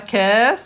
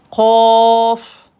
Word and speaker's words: قاف: Non, relax, c'est pas kef, c'est qof. Qof. Qof, c'est la lettre qof. À ne pas confondre avec la lettre kef.